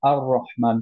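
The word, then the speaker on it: الرحمن: বাট র আমরা যেটা দেখলাম যে এটা actually Shamsia letter, that's why আমাদের মার্জ হয়ে যায় লামটা, এর জন্য আর রহমান পড়ি, আল্লাহ রহমান পড়ি না আমরা, রাইট?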